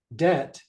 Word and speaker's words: debt: and numb becomes feeling debt the be is silent numb the be is